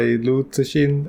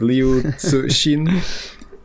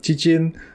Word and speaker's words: Liu Cixin: Paolo recently told me about the Japanese pronunciation of that, which was hilarious. It was Jikin. So Japanese people say Jikin. We said Chichin. The closest to the actual pronunciation, it's Tsushin. But I'm not sure about that, so don't quote me on it.